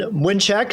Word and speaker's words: Mlynczak: my name is mnek since we're we're saying our polish pronunciations here I am president and